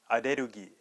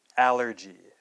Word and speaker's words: allergy: The second word that you cannot communicate with the katakana pronunciation is aderugi. Okay? Aderugi. Alright, so in English, that word is of course allergy. Okay, one more time. Allergy. Alright, so I remember a